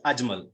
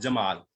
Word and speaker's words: Ajmal: My name is Ajmal, not Jamal. Ajmal Jamal, you have mispronounced.